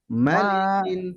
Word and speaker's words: ملك: জি আর এই মালিক হচ্ছে তাড়াতাড়ি, মা লম্বা হবে না। মালিকিন, মালিকিন এটা তাড়াতাড়ি হবে।